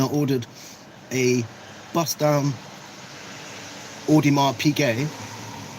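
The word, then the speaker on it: Audemars Piguet: And then I ordered a bust down Odimar PK. That's how you say it.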